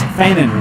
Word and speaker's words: Fannin: She got on to my brother who pronounced it with a G at the end of your name. We know it's Fannin with just an I-N, so we apologize.